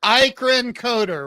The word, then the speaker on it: Eikerenkoetter: here we are Mark Victor Hansen and Xavier Ian coder right I'm saying it right you got it